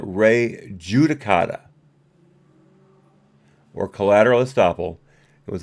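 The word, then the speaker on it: res judicata: Whether you want to call it Ray Justicata, sorry, I pronounced that wrong. No. One more time. Whether you want to call it Ray Judicata or collateral estoppel, it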